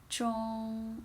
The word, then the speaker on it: 中: And it's also first tone. How do you pronounce that? Hello, 中, right?